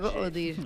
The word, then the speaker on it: Odir: Odir. Hay una historia con Odir, dice con D. Así, así lo así hay que pronunciarlo.